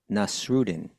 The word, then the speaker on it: Nasreddin: And it was about someone named, I want to try to pronounce this right, Nasreddin Hujja. Mullah Nasruddin. They pronounce it different ways.